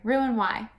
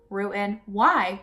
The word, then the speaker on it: Roux-en-Y: so yeah let's do it so what surgery Roux and why the X in roux is silent it is Rous oreal NY I'm ruined why um ruin why why mikkel why'd you get the surgery I'm